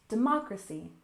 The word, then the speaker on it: democracy: and finally we have democracy stress the second syllable democracy democracy democracy is a